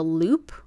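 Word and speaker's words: loupe: use one of these guys it's called a loop or a Jeweler's loop it's spelled l o u p e to help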